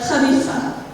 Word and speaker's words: Khalifa: For example, words with KH are pronounced more like louder than ka, like Khalifa.